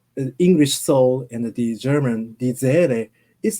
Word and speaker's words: Seele: For example, one of the most important terms of Jungian psychology is German die Seele.